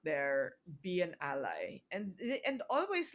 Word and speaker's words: Bea: Bea, Yes. and in the Philippines, because it's Beatrice, it's Bea. It's Bea. Yeah. Yeah, but in the In the States, States, it's B, it's B.